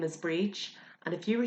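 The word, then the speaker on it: Bríd: enough tiny little letter is a now we pronounce that as ah so for example my name is breech and if you were saying hello breech you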